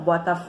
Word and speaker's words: Botafogo: né fogo né Botafogo a gente pronuncia como Botafogo e aí esta sílaba que se prolonga é a sílaba tônica então né lá na